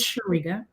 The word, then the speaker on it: Chiriga: But if my mom is listening, it's Chiriga. Okay. Chiriga, and it's not Chiriga because it's spelled with a C. Yeah, Chiriga. Yeah, it's like if you break it down.